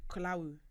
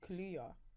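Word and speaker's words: Kaluuya: Is it Kalawu? No, say it one more time. Kalawu. No, Kaluya.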